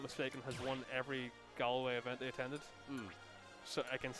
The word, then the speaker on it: Galway: Sorry, it's Galway. Yeah. So yeah, Kretin, I'm pretty sure, if I'm not mistaken, has won every Galway event they attended.